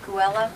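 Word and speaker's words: Geula: All right, so it's the Bodkin property, is it pronounced Gula, Loretta? G-E-U-L-A? Guella.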